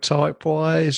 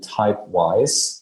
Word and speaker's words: Typewise: play store type in typewise and like you will find it so it's spelled as it is pronounced um to follow our